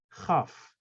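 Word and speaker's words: כ: This letter, which is without the dagesh, doesn't exist in English. It's soft K, like Ch. It's different than Het. I want you to hear that. Het, Chaf. They are different.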